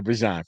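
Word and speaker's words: Bijan: And I can tell you every time Bejan touched the ball, I wanted to get high, right? I wanted to get because I should say Bjon. Forgive me for mispronouncing.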